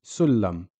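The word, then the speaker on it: سُلَّم: Same with Sullam. Here the Shaddi is on the lamb, so you have to imagine two lambs, the first one with a Sukoon. Sorry, it's not shown here, but the first one with a Sukoon, just like this one over here, and a Fatha on the second of the two lambs. So it would be Sul-Lam. The Shaddi merges these two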